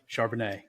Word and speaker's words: Charbonnet: how do you say Zach's name from UCLA Chardonnay charbonnet yeah so those guys were a little disappointing